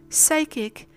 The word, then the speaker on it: psychic: The same thing happens with the fricative S in words such as pseudonym, psychic, psychiatrist, psychopath, and psychology. The same thing happens with